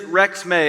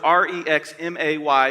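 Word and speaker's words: Rexmay: this is Rex may now you wouldn't necessarily pronounce it that way uh but it is Rex may I put in my notes re x m a y to be able to say it correctly you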